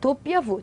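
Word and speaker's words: doppia vu: 도피아부.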